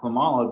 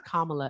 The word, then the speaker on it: Kamala: No, I didn't vote for Clamala because I felt like she was being thrust upon us. Kamala.